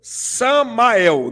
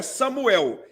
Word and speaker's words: Samael: com ele no final ha Satan ou Samael não é Samuel é Samuel Samuel Samael é isso raça Tam ou Samael